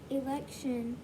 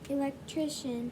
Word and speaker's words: electrician: stop his court elect c-i-a-n at the end of a word usually has the same sound as t-i-o-n at the end of a word his court election not election you took out a syllable electrician electrician had run an electric